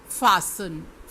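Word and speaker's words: fasten: Students, अब हम कुछ लेटर ऐसे पढ़ेंगे जिसमें कि साइलेंट लेटर हैं वो मिडिल में हैं, जैसे फासन, फासन, इसमें जो T है वो साइलेंट है।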